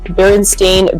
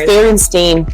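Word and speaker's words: Berenstain: children series the B berstein Bears report remembering the Bears family name is berstein Bears or remember it is barstein bear it's barenstein bear wait how do you spell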